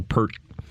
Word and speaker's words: Peart: yeah appeared okay yeah you say pert I say I've been listening to Rush my entire life I know and now is when I learned how to say his name so I took this